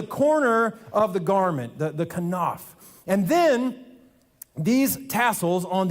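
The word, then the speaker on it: כנף: The first one is the word kanaf. Say kanaf. That was beautiful. You sound like scholars. The kanaf is the corner of the garment, the kanaf.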